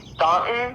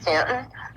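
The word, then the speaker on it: Staunton: o n so you would think it was ston but it they pronounce it Stanton like that look like a cute little old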